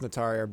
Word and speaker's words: Notoriar: It's pronounced Notarier, but David Lee always pronounced it Notarier.